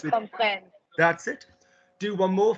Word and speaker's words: comprennent: It rhymes with. Comprennent.